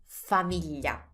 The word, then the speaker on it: famiglia: to say family in Italian, and that is famiglia.